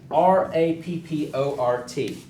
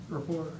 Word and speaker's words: rapport: uh Speech but it's a word that is spelled differently than how pronounced right and you'll see it in our speech outlines right r a p p o r t Rapport Rapport and in the